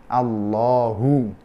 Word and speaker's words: Allah: Karena sebelumnya fathah, maka dibaca tafkhim. Jadi Allahu. Kalau sebelumnya dhamma juga dibaca tafkhim, yadullahi. Tapi kalau sebelumnya kasrah dibacanya tarqiq, billahi.